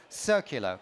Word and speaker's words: Circular: He's the Chief Future Officer for Circular, pronounced with an S and not a C at the beginning.